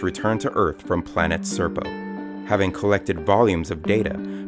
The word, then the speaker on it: Serpo: Knight their ation the Ean home world best pronounced by humans as serpo the third planet orbiting of binary star systems